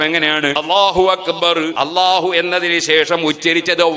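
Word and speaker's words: أكبر: ഇനി നമ്മൾ ഉച്ചരിക്കേണ്ടത് എന്താണ് അക്ബർ ഞാൻ നേരത്തെ പറഞ്ഞ ഉച്ചാരണം എങ്ങനെയാണ് അള്ളാഹു അക്ബർ അള്ളാഹു എന്നതിനു ശേഷം ഉച്ചരിച്ചത് വാ എന്ന വാവാണ് ഉച്ചരിച്ചത്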